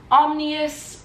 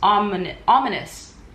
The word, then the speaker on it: Ominous: time and that is omnius Omni omnius I still don't know how to say it omnius ominous ominous yeah ominous I don't know why I say omnius ominous by KV Rose this